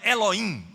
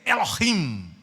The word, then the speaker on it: Elohim: para lhe ensinar né não é Eloim é Elohim Tá certo porque o a letra h ela é pronunciada em hebraico nós temos e esse